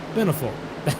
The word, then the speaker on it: Benefiel: Beneful. Let me try that again. Beneful. That's how we pronounce his name.